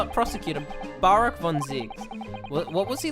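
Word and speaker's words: Barok: for me to realize it's Barack and not Baron see when I read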